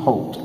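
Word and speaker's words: Holt: is your name as most people can't pronounce my name it is the Hult hol T so you call me mr.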